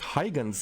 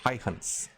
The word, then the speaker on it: Huygens: uh it's actually not hygiene's it's uh the the dutch pronunciation is a little bit more different it's there's some no way i can do the correct pronunciation but it's uh similar to haihans so cassini heihan spacecraft